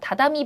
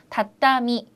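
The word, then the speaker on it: たたみ: 일식집 같은데 가면 은요 다다미 방 있어요 다다미방 이렇게 얘기하는데 다다미가 아니고요 다 땀이 그래서 점 점 까꿍이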